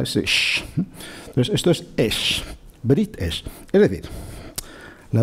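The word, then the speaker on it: אש: Los 2 puntitos en horizontal debajo es el sonido vocálico de la E, y la letra Shin con el punto en la rama de la derecha es el sonido Sh, que es un sonido onomatopéyico, ¿no?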